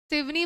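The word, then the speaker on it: सिवनी: शिवनी बोलते हैं। फिर सनी लिखते हैं। है ना? ऐसी स्पेलिंग होती है ना?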